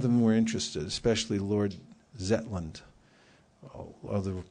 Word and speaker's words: Zetland: Some of them were interested, especially Lord Zetland. Other pronounced Lord Jetland.